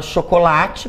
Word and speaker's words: chocolate: Paroxítonas quando a penúltima sílaba é tônica, a palavra chocolate, por exemplo, né? Última, penúltima, certo?